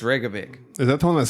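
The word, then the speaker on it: Reykjavík: It's Reykjavik. Is that the one that's spelled like That's the one a that lot blew of up.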